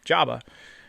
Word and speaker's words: Joba: another cat named Joba I named him Jo Bob before I realized that Joba Chamberlin pronounced his name Jabba I got him when